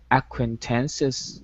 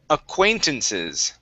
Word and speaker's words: acquaintances: Now this word here, T, is pronounced acquaintances. So our stress is right here in the very middle.